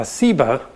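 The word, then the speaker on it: Seba: scholars think is related that has just a different s sound uh siba doug explains that sheba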